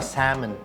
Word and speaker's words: salmon: sisig tenga sinigang na Salmon Sosyal silent L at Syempre kumuha rin